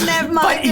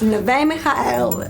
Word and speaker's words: Neve Michael: It's Nev Michael. Nev Michael. It's not Nev Michael. But it's spelled like Nev Michael or Neve Michael. Okay, but continue. But it's Neve Michael.